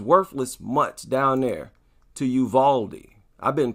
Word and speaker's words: Uvalde: these dogs he's worthless much down there to yuvaldi i've been pronouncing it wrong for a while i was saying you've laid but it's actually okay a lot of people